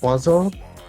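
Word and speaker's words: oiseau: If that is pronounced wazo, I don't want to hear anything about French being a serious language.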